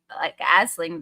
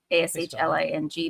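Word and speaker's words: Aisling: what's actually pronounced as Asling, the Irish sort of name, but Ashling, but it's said almost like Ashley.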